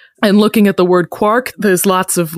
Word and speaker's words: quark: And so that was his justification for pronouncing it quark, because it's like quart.